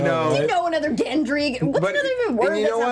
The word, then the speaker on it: Gendry: It almost sounds like laundry. Yeah. Oh, it's Gendry.